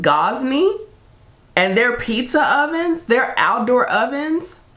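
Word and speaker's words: Gozney: However, I believe it's pronounced Gosney, and their pizza ovens, their outdoor ovens, I need it.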